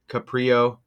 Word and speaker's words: Caprio: That's how you spell it right there. Huh? Let's go. Let's check this out. Caprio.